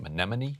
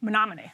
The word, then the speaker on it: Menominee: county seat of, how do you say it, Menominee? Menominee. Menominee, okay.